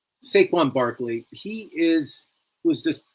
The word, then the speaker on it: Saquon: Shawan Barkley. Did I say it right? Saquon. Saquon Barkley.